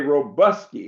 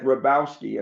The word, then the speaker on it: Hrabowski: Hrabowski, in Birmingham, they actually say Robuski. It's more southern. I went off to college and I found out that the Polish folks said Hrabowski, and I pronounce it that way. The H is silent, but my great great